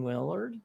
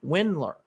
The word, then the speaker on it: Windler: okay now to the other guy remember dylan willard when windler i came pronounced his name has been so long dylan windler he hasn't played basketball in a long time